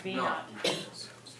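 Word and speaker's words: v₀: Instead of saying V sub 0, it's just saying, it's pronounced V naught.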